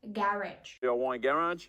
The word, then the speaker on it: garage: Його ми читаємо як garage.